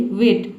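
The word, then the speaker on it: weight: रहे हैं, यहाँ पे GST किसी भी वर्ड में एक साथ आता है तो GH जो लेटर है ये साइलेंट रहता है, केवल हम T को पढ़ते हैं। ठीक है, तो ये बात आपको याद रखना है कि GST एक साथ आ जाता है तो इसमें हम GH को साइलेंट रखते हैं, T को पढ़ते हैं। तो T का टॉ हो जाएगा, GH साइलेंट हो गया।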